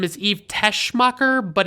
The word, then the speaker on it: Teschmacher: is Eve Teschmacher, but it sounds like they're saying Tessmacher without the H sound in it. So I don't know. I struggle with that because it's like, I want to pronounce it right, but I feel like they're pronouncing it wrong in the movie.